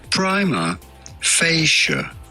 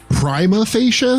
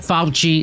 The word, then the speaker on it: prima facie: This is normally pronounced prima facie. Prima facie? Prima facie. I watch Boston Legal. Not Fauci. It's prima facie.